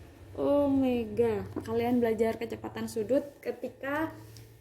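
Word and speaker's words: ω: Sedangkan ini bukan W ya, tapi bacanya omega.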